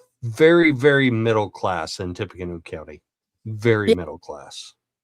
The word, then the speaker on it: Tippecanoe: Indiana State PD, Tippecanoe County Sheriff. Did I say it right? Tippecanoe, yes.